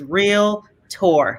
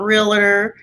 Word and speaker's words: Realtor: realtors and you know the correct pronunciation is real tour not realer it's real tour how many realtors are there in the united states as of october 2020.